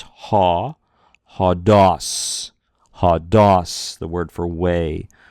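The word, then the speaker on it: ὁδός: So we break the syllable as quickly as possible if we can. So it's ha, ha-dos, ha-dos, the word for way or road or path.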